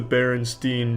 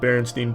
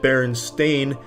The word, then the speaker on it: Berenstain: And, strangely enough, I used to actually pronounce it Berenstain, but I was constantly corrected by the teacher and my parents saying, "Charlie, take that Brillo pad out of your fucking mouth and say it the correct way or you're not getting food tonight.